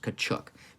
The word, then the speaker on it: Kachuk: because look lenny's mind-boggling last name was actually pronounced kachuk there it is okay now i'm going to say kuchuk or as he himself explained a sneeze between two k's a few of the